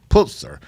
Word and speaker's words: Pulitzer: A puls you pronounce that Dr. Pulzer. Pulitzer um prize winner and author and she had